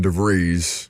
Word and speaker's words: DeVries: I know it now DeVry, because, again, like the university.